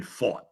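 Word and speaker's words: Pfaadt: for him yeah Brandon fought is actually how you pronounced it but it looks like fat so I like to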